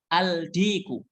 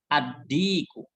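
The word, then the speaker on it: الديك: tidak terdengar saat dibaca Bacanya jangan aldiku aldiku ini salah ini salah Tapi bacanya addiku bukan aldiku tapi yang benar addiku dan berikutnya emas artinya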